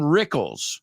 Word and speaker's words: Rickles: English number number two Don Rickles it rhymes with pickles and last but not